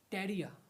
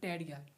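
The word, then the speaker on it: tarea: ए एम आई एल आई A Familia homework टेररिया homework homework O आई am sick of this homework homework is called टेररिया टी ए आर ई ए टेररिया in Spanish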